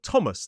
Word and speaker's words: Thomas: It is not Thailand, it's Thailand, and it is not Thomas, it is Thomas.